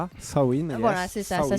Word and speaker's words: Samhain: Sain, c'est ça ? Sain, voilà, c'est ça. Ça s'écrit sa main.